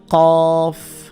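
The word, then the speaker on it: ق: এটার নাম হচ্ছে কফ, কফের উপরে দুই নোক্তা, কফ। জিব্বার গোড়া থেকে উচ্চারণ করতে হবে এটা।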